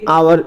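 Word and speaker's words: hour: তাহলে আওয়ার, H consonant, কিন্তু আমাদের প্রোনাউন্সিয়েশন কি হচ্ছে, আর মতো হচ্ছে, আওয়ার, তাহলে অ্যান হবে।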